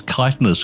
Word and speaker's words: chitinous: I was always taught that it's chitinous because it comes from Greek, and the CH in Greek is a K, not a ch. That would be a Latin pronunciation. It should be a K, like Christ or chasm.